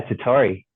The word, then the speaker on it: Tottori: He's originally from East Bay in California, and now he's in Tottori, Japan. Is that how you say it? That's exactly right. Yeah, Tottori. I actually pronounced something right on the first time, guys.